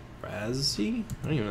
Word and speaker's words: Razzie: It probably is Razzie, actually. Pronounce... Razzie?